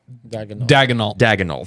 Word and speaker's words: Daigneault: team like that and go, oh yeah, Mark Daigneault. Dagenhalt. Thank you. Yeah, I've always mispronounced it.